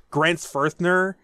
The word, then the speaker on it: Grenzfurthner: the the syllables like Grant's firthner yeah I mean that is such a cool name it's actually not a th it's not a teacher because most Americans think it's a th well there you go